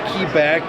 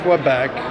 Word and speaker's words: Quebec: speaks French especially towards like kebec or Quebec depending on how you pronounce it um I think